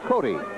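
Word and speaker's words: Cote: don't know Greg and I was just going by the spelling c o te but that is Greg Cody I beg his pardon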